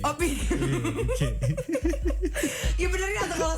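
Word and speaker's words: Piqué: Dibacanya Pique. Oh Pique.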